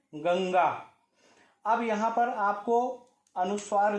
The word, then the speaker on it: गंगा: अब यहां पर जान लीजिए कि इसका उच्चारण अनुस्वार की तरह ना होकर के पंचमाक्षर की तरह होगा, अर्थात इसका उच्चारण गंगा होगा, ना कि गंग्या।